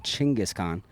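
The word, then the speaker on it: Chinggis Khan: the westers call him Mongolians call him chingis Khan which is actually ironic they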